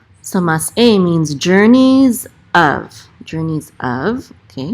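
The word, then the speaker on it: מסעי: We don't say say, we say mas e, okay? So mas e means journeys of, okay, it's plural.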